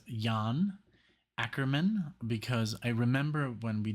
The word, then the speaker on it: Jan Akkerman: I think it's called um the name is pronounced Yan acrian because I remember when we did um what